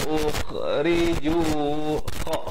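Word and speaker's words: أُخْرِجُوا: Bacanya alladhina ukhriju. Kha di hujung kerongkong ni. Ukhriju. Ri jadi nipis.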